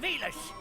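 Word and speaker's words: Villads: Captain Velas. The D is silent. There's a D. Arr! Wait, there's a silent R. Arr! Nar. Oh, okay, so it's just the silent D then.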